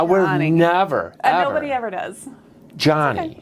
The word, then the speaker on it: Joni: have to redo it my name's actually pronounced Johnny oh is it really